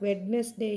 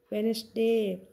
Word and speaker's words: Wednesday: Not Wednesday. Here D is silent. Wednesday.